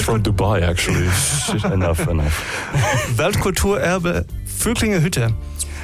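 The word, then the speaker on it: Völklinger Hütte: Germany was in the, and I have to pronounce it correctly because you're German, right? Yes. It's from Dubai, actually. enough. Weltkulturerbe Vöcklingerhütte.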